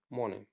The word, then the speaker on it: Monet: पहले हम देखते हैं there is a silent letter in the word मोने। तो यहाँ पे जो वर्ड लिखा है मोने, इसके अंदर एक साइलेंट लेटर है। सो साइलेंट लेटर कौन सा है? Which do you think it इज? तो इसमें जो साइलेंट लेटर है वो कौन सा है? यस, इसमें हमारा जो लेटर टी है वो हमारा साइलेंट है। हम इसे क्या पढ़ेंगे? मोने।